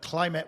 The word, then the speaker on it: Klimate: quick correction as well I pronounced the name wrong but climate with a k um so yeah just